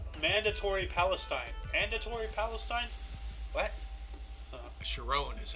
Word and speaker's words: Sharon: Sharon is how his last name's pronounced. Sharon. Give him credit on his birth. Sharon.